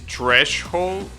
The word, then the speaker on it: threshold: good plan to me is threshold oh so you pronounce the the sh all right so it's not Tres Hall is trash oh all right gotcha thanks